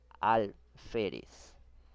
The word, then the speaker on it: alférez: Segunda palabra, alférez. Lleva la mayor fuerza de voz en la penúltima sílaba.